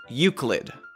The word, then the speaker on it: Euclid: all over the wiki how do you pronounce you CL ID pronunciation wise we're going to say Euclid you Clin this word is based on the name of the great Greek mathematician Euclid of Alexandria really that's that's the